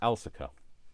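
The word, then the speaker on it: Elsecar: So it's E L E S C A R. Elsa. I know it doesn't that's I know like everybody else will be thinking what El's car or however you might pronounce that but it isn't.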